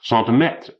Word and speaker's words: centimètre: There is some justification for pronouncing centimeter as centimètre, since that is a French word to begin with, but in that case one should either stick to English or go French all the way and pronounce it centimètre, with a light accent on the third syllable.